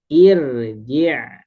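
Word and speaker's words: اِرْجِعِي: Contohnya rji. Nah, huruf ketiganya huruf jim harakat kasrah berarti samakan irji' gitu ya.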